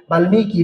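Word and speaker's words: বাল্মীকি: তো বাল্মিকির উচ্চারণটা দেখেন ম এর সাথে বাল্লিকি বাল্লিকি হওয়ার কথা ছিল কিন্তু কি হয়ে গেছে? বাল্মিকী হয়ে গেছে।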